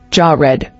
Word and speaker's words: Jared: origin Hebrew yared meaning descend or to descend pronunciation jaw red Bible verse Genesis 5:20 ESV so all the